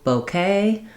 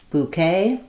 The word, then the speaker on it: bouquet: help you remember, no bouquet or new bouquet. And then the letters QU say the k sound in English, and then the ET says the A diphthong, just like in say or day.